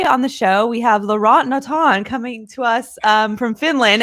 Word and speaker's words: Laurent Notin: So, hi guys, my name is Laurent Notin. That's how you say it.